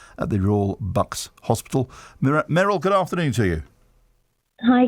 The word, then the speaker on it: Merrilee: Merrilee, good afternoon to you. Hi, good afternoon. Welcome. Have I pronounced your name correctly? It's actually Merrilee.